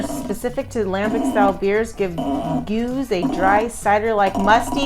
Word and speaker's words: Geuze: Geuze, Geuze.